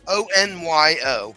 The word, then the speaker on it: onion: Cajun from Louisiana, and he would always say onion, but this guy says onion, ONYO, and they'll spell it out every once in a while, onion.